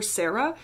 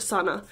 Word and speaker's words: Sana Krasikov: patriots by i think i called her sarah it's santa i'm very sorry sana very sorry for mispronouncing your name it is sana krasikov